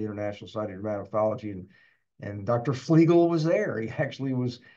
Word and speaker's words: Flegel: ago at the international catology and and Dr flegel was there he actually was at the conference and he uh they announced him as as Dr flegel and he saides that's the way you pronounce my name so uh if that's the